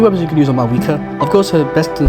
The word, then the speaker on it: Mavuika: This is a short and sweet guide on Mavuika, or Mavuika, that's how you say it, going over her weapons,